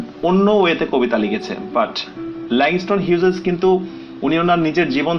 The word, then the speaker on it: Langston Hughes: তো ল্যাংস্টন হিউজেস, এই প্রোনাউন্সিয়েশনটা আমরা অনেকে ভুল করি, অনেকে লংস্টন বলে ফেলি, অনেকে হিউজেসকে হাগিস বলে ফেলি। হাগিস বলার কারণ হচ্ছে টেলিভিশনে অ্যাড দেখে হয়তোবা আমাদের এই ব্যাপারটা হয়ে গেছে যে হাগিস, চুচু ডায়াপার, এইরকম কিছু যে অ্যাডগুলো দেখি। ওকে, তো আমরা যে সঠিক প্রোনাউন্সিয়েশনটা শিখলাম সেটি হচ্ছে ল্যাংস্টন হিউজেস।